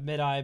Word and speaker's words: MIDI: 2018 but we'll see it can be pronounced both ways oh I usually go with mid i but sometimes I say MIDI I don't actually know